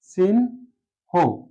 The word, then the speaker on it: চিহ্ন: এখন এটা উচ্চারণ হবে সিন, সিন হো, সিন হো।